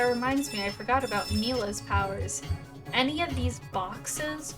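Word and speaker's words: Milla: Mila's name is pronounced Mila.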